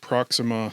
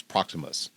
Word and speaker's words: Proximus: is where we meet Proxima Caesar which is maybe the most interesting character in this movie sorry sorry I been mispronouncing it's proximus proximus yeah yeah he's a bonobo